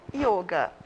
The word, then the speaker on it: yoga: E a prática do yoga, a gente fala o yoga. Tanto é que, às vezes, a gente até tem o acento circunflexo, né, para mostrar que é uma pronúncia fechada. É o yoga.